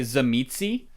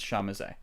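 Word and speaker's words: Tzimisce: it's a weird word most people just give it just say zamitsy because that's like what it looks like but the actual pronunciation is shamise okay and when what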